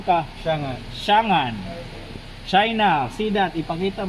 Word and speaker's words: Changan: Oh, ano, paano pag-pronounce, pre? Shangan ka. Shangan.